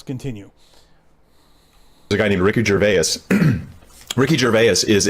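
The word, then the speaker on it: Gervais: and no, he doesn't pronounce his name Ricky Jervy. He doesn't pronounce his name Ricky Jerves. He pronounces his name Ricky Jerves.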